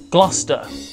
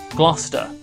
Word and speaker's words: Gloucester: nothing on this one Gloucester Gloucester Gloucester the the name with so many silent letters in it the word almost doesn't